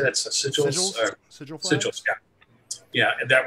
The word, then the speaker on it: sigils: Sigils?